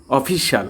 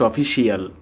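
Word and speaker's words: official: অফিশিয়াল নট অফিসিয়াল। এই যে রাস্তাঘাটে বা বনে জঙ্গলে যে শিয়াল চলে, সে শিয়াল না, শাল, যে শাল আমরা গায়ে দিই।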